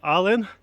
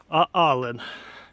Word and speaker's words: Aalen: Німеччині знаходжуся біля міста Аллен читається як Ален але можна сказати що аален Іду зараз на смотрову